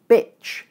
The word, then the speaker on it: bitch: However, as you have just learned, in the words beach and bitch, the vowels are the same length. They're both short. So the difference must be something else. In fact, the difference between these two vowel sounds is due to a small difference in tongue position.